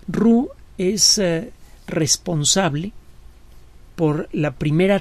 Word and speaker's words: Roux: muy brillante pierre paul emile rubí se escribe roux roo es responsable por la